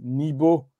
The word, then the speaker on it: Nibo: Et donc, ce chien noir, son nom, je l'avais expliqué, en fin de compte, se prononce Nibo. Nib.